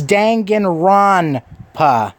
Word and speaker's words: Danganronpa: I said it wrong. Danganronpa. I always say Danganronpa. It's Danganronpa.